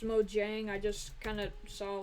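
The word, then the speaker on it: Mojang: if it is sorry Mo Yang I I know it's probably pronounced Mo Jang I just kind of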